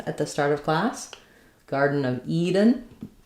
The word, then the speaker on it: Garden of Eden: So, in Garden of Eden, we pronounce um, we stress mainly on Eden. That's the end of the phrase. Both garden and Eden have the D is a flap. So, it's a nice light touch, not garden.